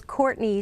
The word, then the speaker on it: Courtenay: I wasn't quite sure it's Courtney spelled differently said I tell people it said normally spelled differently okay it's spelled Courtin